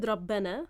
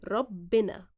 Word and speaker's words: ربنا: Owiju, you said Rabbana. Rabbana is the modern standard Arabic pronunciation of the word. In Egyptian, however, we do it with kasra. Rabbina.